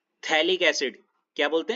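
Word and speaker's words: phthalic: इसको हम बोलते हैं थैलिक एसिड। क्या बोलते हैं? थैलिक acid. थैलिक with the piece P with the silent समझ रहे हो? हां जी। हां। थैलिक with P silent.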